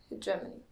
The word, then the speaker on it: hegemony: Okay, gem, it is pronounced as hegemony.